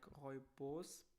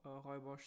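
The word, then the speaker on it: rooibos: pronounce it in german because it's written like roy bose but i think it's pronounced it's pronounced for hoibosh so yeah but i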